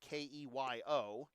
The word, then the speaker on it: Keogh: Keogh, pronounced like former Blue Sox pitcher Now assistant GM Matt Keogh, but spelled differently, Keyo, takes strike one.